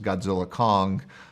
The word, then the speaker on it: Godzilla x Kong: And so it kind of it rose from that, and obviously it's just pronounced Godzilla Kong, but I tend to say GXK all the time because I think it sounds cool.